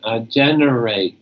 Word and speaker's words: generate: that okay number 27 generate generate gener no wait remember GE is that J sound generate do I know